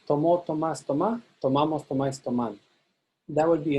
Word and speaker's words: tomamos: Outside the boot, in nosotros and vosotros, you stress the ma syllable.